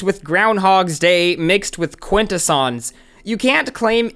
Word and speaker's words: Quintesson: So at that point, I was like, you know, these videos get like 300 views each. It's not a big deal. Who cares? So I just let him pronounce it Quintesson.